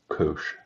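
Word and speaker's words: cosh: way this is pronounced cinch and this is pronounced coach coach of X is because I said so EVD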